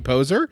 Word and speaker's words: Poser: Hey, we've got John Adams and Poser. Yeah. Am I pronouncing that right? You got it.